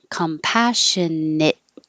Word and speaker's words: compassionately: them myself compassionately compassionately this is another situation of the t before the l hold your tongue in the t position and not release it like compassionately that makes it too choppy you're just going to hold it compassionate li and release it for the l and we don't say